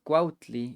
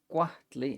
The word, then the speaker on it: cuahtli: snake, masatl, a deer, cuahtli, pronounced cuautli in Central varieties, cuahtli in the Huasteca, an eagle.